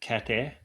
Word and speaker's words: Cathair: Do you reckon the H is silent? It's more like Kair.